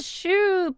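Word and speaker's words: choux: Because it's a shoe pastry, so I guess they adapt the pronunciation.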